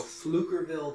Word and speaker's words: Pflugerville: that right now okay so flukerville texas that is pf silent p lugerville yeah the reason why